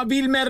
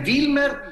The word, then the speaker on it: Wilmer: E in realtà Wilmer sarebbe la pronuncia giusta della V doppia in inglese. Okay. Wilmer è all'italiana, sì.